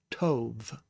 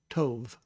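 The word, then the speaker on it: טוב: And then we have the beit here, and it is the light pronunciation so it'll be a V instead of a B sound. Instead of ba, it will be the. And you have tov, tov.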